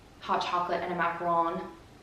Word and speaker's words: macaron: hot chocolate and a macaron. I always want to say macaroon, but I know it's actually a macaron, so I'm trying to be better about saying it correctly.